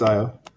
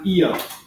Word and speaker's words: Io: at Disneyland at least, there was Captain EO, which is not pronouncing Io correctly. I think they use EO instead of Io, but you think that it must have something to do with this.